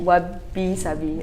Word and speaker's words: wabi-sabi: So wabi-sabi is about embracing imperfection. Okay, it's actually quite a tongue twister. Wabi-sabi. Wabi-sabi. Okay, wabi-sabi. Okay. So yeah. Cool. You can do it, it rhymes with Barbie.